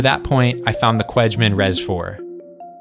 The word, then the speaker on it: Cwejman: To that point, I found the Cwejman Res-4. I believe the correct pronunciation is more like Cwejman.